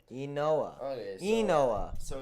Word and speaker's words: Inoa: Inoa. Enoa. Okay, so Enoa.